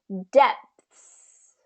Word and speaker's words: depths: back in yeah okay so then you just bring your lips together for the P stick your tongue out for the th and pull it back in depths depths depth dep that